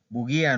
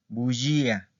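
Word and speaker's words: bugia: Esto no se pronuncia buguía no, bullía, que es mentir, ¿ok?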